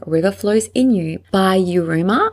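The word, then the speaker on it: Yiruma: Flows In You by you rumor I think that's how you pronounce it it's y-i-r-u-m-a for hours on repeat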